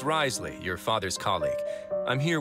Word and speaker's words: Wriothesley: Wriothesley, indispensables. I don't know what else it says. I was told that I actually pronounced his name right. Wriothesley, I think.